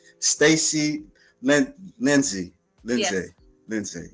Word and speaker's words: Staci: If I'm correcting that right, if pronouncing it right, Stacy.